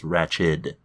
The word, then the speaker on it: Ratched: No, it is spelled like Ratched. No T at the end. It's Ratched.